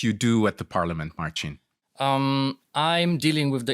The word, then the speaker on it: Marcin: hello uh listeners uh surprisingly you pronounced my name correctly uh it's a typical polish name with the end ski